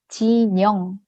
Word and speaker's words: 진형: 진 형 같은 경우는 이름을 듣는 대로 쓰게 되면 은 진형이 아니라 진영 진영으로 들려요 저희 한국어 발음 자체가 니은 하고 희연이 만나면서 징 형이 아니라 진영 그리고 발음을 진영으로 하게 본 4 소개할 때 안녕하세요